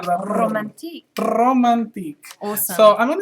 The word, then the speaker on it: Romantique: this is using the romantique no no you're not saying it right romantic line okay you need the the the tongue roll in there romantic romantic awesome so I'm